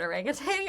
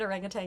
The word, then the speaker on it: orangutan: can't say the word orangutang I know you don't say it orangutang you say it orangutan